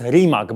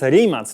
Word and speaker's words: Rimac: Newera i bardzo was proszę Przestańcie mnie poprawiać w komentarzach że to jest remak bo to nie jest remak to jest rimat nazwa tej marki pochodzi od nazwiska i założyciela materimaca i tak właśnie wymawia się jego nazwiska więc jest to